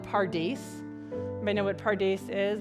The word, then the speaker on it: Pardes: It sounds like paradise.